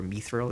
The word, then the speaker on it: Mithril: I've recently been using a framework called Mithril, or Mithril, if you pronounce it like the dwarf in Lord of the Rings.